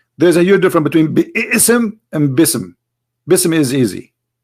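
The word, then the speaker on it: بسم: say you see here you didn't say be ISM no more here they say BISM so it's not an error scribe it's an error in the pronunciation are you getting my point because they are not saying when they recite the Quran they don't say B Issam and it's written wrong no they recited BISM and i will tell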